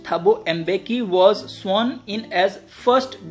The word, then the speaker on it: Thabo Mbeki: Then next page, Thabo Mbeki, it is pronounced Thabo Mbeki, was sworn in as first deputy president.